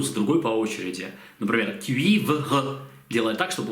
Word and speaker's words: cuivre: Cuivre, такую южно-французскую на юге Франции любят добавлять, можете добавить cuivre.